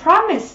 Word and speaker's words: promise: Và nó có trọng âm dương tiếp thứ nhất, đọc là gì? Promise, có nghĩa là lời hứa.